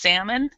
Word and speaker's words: salmon: yes Sal Sam yeah salmon it's it's actually pronounced salmon and um yeah salmon and uh let's see